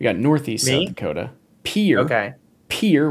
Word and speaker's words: Pierre: Pierre. Okay. Pierre, which I know it's pronounced Pierre, even though it's spelled Pierre.